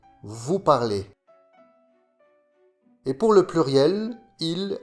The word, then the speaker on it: parlez: Vous parlez. La combinaison EZ se prononce et. Vous parlez.